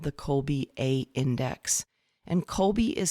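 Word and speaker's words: Kolbe: alongside the enneagram i use something called the colby a index and kobe is spelled k-o-l-b-e it is the last name of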